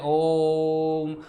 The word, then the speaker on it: ओम: उच्चारण करना आपने सीख लिया था, ऐसे बोलते ओम। भाई ओ का उच्चारण 3 गुना क्यों करा?